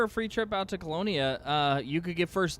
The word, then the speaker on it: Colonia: tritium for 2k but isn't it in like colonia or something it's like 30 000 light years